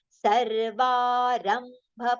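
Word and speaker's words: सर्वारम्भपरित्यागी: Then sarvarambha parityagi. Sarva, long pronunciation. Rambha. Ra will have aghat for partial ma. Ram and then bha complete.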